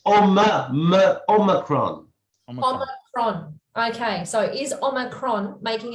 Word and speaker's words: Omicron: or am i saying i've always pronounced i ah that's what i was taught in school omicron is always making it worse because i've received some lesson on pronunciation over the last few days so i it's omacron okay so is omacron